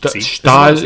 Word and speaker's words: Stalman: Let's start with what Apple probably considers to be the biggest change, and that's just Evan, size, it's pronounced Stahlman.